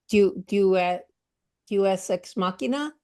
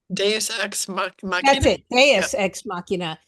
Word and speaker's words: Deus Ex Machina: And one of And Julia's favorite Deus Ex Machina, I don't think I'm pronouncing it right, Deus is Ex is Machina, yeah. huh? Deus Ex That's Machina. it. Yeah. Deus Ex Machina is that the aliens show up.